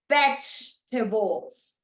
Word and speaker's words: vegetables: So for example, if I say vegetables, where is the stress syllable? In the first syllable or in the second one? What do you think? Cristel. The first syllable. Correct, because I'm saying vegetables, right? So right there you have the syllable, the stress.